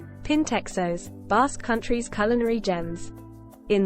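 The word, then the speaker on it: pintxos: pintexos Basque country's culinary gems in The Basque Country pintexos pronounced Pinchers are the gastronomic stars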